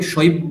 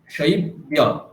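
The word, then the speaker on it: शैब्य: আপনি শৈব্য বলছেন, বয় বয় বলছেন, বয় জফলা আছে, ওটা কি হবে? বিয়। দেখুন আপনি এইভাবে এটাকে শর্ট ফর্ম করে দিন, বি অ, এটা বলুন। কি বললেন? বি অ, হ্যাঁ? তাহলে শৈব্য, শৈব্য, শৈব্য, বলুন আবার।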